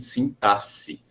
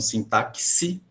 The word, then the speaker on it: sintaxe: conhecidas como figuras de sintaxe tá você já deve ter escutado muita gente falando sim táxi existe muita gente fala assim mais a ortoépia correta na forma correta de pronunciar é sintaxe todo aquele que tem